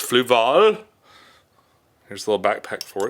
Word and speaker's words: Fluval: I've been pronouncing Fluval wrong all these years. It's Fluval.